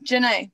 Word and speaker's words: Janay: you i was really worried about saying your name wrong is it jenae or how do you say it yeah janae yeah okay it's just yeah okay right on